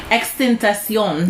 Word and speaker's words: XXXtentacion: XXXtentacion.